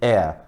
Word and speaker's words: heir: O H, ele não é pronunciado, então o som vai ficar de vogal e você vai colocar o N na frente.